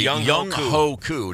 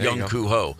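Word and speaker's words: Young Hoe Koo: I'm completely Young Ho Koo, not Young Koo Ho.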